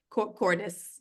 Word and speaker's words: Cordes: so now you tell me the pronunciation I should have asked you this beforehand Cordes or cordz Cordes Cordis yeah okay Cordes is a Brooklyn new